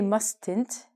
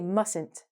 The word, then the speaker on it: mustn't: We do not say mustn't. You mustn't pronounce the T. When we do this, the T is actually silent. We say mustn't.